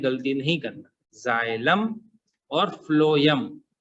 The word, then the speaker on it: phloem: Spelling को पढ़ने में गलती नहीं करना, जाइलम और फ्लोएम। उसको कई लोग फ्लोएम या फोलम फोलम बोलने लगते हैं, वो गलत वर्ड है, फ्लोएम ही कहना है।